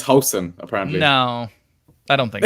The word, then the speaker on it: Huijsen: Apparently, what's it's the pronunciation? Hausen. It's Hausen. That's what I was told. Yeah, I don't speak Dutch, so your guess is as good as mine.